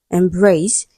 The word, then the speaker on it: embrace: Embrace. It is a verb, right? Stressed on the second syllable.